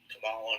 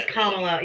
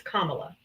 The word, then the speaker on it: Kamala: people that vote for Camala or anybody. Her name is Kamla. You can't even say her name. It's Kamla.